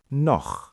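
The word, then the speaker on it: noch: So it's like do with that kh sound and no meaning still also has ch after o. So it's no.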